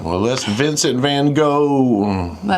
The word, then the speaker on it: Van Gogh: Now, I know the name pronunciation, there are different ways of saying G O G H in different languages. We're just going to go with go today.